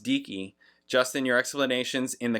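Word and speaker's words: Deaky: going on it's pronounced decki which I should have known because it's Deacon you know the hard K and I was like DC oh is it DC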